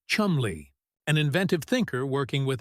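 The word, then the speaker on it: Cholmondeley: Among Godfreyy's staff was a young officer named Charles Chmanley, pronounced Chumley, an inventive thinker working with MI5's double cross committee.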